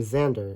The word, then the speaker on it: Xander: Or in the name Xander, it makes the z sound.